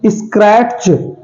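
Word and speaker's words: scratch: ए टी सी एच स्क्रैच ऐसा सुना है आपने स्क्रैच पड़ गया नहीं स्क्रैच होता है क्यों क्योंकि इसमें टी साइलेंट है ओके नेक्स्ट है डब्लू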